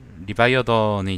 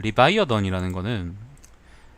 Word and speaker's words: 리바이어던: 레비아판이라는 게 그 리바이어던이 이제 러시아어 발음이거든요. 리바이어던이 이제 영어 발음이죠.